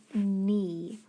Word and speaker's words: knee: in the word knee well first of all i see that what i just learned about that k in ghost letter digraph and i know because